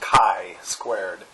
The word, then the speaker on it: chi-squared: talking about uh Kai squared um so it's pronounced Kai squared uh and we're going to be conceptualizing goodness